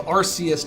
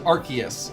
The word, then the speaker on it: Arceus: The same reason why they changed the pronunciation of Arceus to Arceus, the Pokemon.